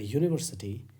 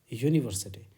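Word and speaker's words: university: होगा वही वाली बात यूनिवर्सिटी यू वाउल लेटर है लेकिन कंसोनेंट साउंड देता है यहां पर इस वर्ड में इसका साउंड है यू और यू क्या है कॉन्सोनेंट साउंड है कंसोनेंट साउंड के लिए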